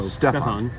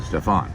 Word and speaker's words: Stephon: I put the accent on, or the stress on the first syllable, so Stephon. and everybody else puts it on the second one. Stephon.